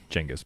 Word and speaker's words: Genghis: Genghis Khan is later. Genghis, but yeah. That's the proper way to say it.